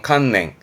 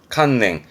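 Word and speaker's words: 観念: 그래서 발음은 칸냉, 칸냉.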